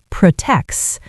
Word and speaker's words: protects: Mike, make sure you release a little puff of air. Protects.